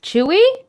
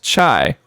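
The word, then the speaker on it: chuy: write it that out yeah okay see it chewy but it's pronounced chai like the t the chai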